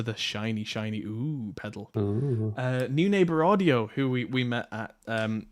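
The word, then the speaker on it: Neunaber: into a compact unit, which can pronounce Neuneighbor. No, I think it's pronounced New Neighbor. We were at their booth. I'm pretty sure they said it's New Neighbor.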